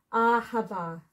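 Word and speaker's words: אהבה: The h at the end, anyway, because it's silent. Ahava, which is love.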